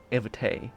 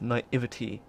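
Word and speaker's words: naivety: best at pronunciation but naivity is not navity is naivity my fear is that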